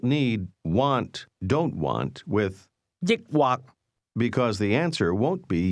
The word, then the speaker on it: 抑或: 抑或或抑或抑或 This word is pronounced with a combination of high and low level tones. Say or. 抑或抑或 Try to ask, do you want to drink beer or wine?